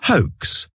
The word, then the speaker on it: hoax: Parce que non seulement en anglais, le H on le prononce, mais également le OA, c'est une diphtongue. Une diphtongue, c'est une association de deux voix, de deux sons.